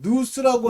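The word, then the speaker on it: νοῦς: 누스 또는 노스라고도 발음하는데 영으로 기도하고 스피릿, 깨달음으로 기도해야 된다. 영어로는 understanding으로 기도해야 된다. 이 understanding은 마음의 깨달음, 누스라고 하는 것을 통해서 이건 마음의 열매를 맺게 하고요.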